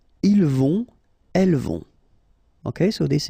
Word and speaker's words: ils vont: Then ils vont. Final T not pronounced, and then O and together, on vont.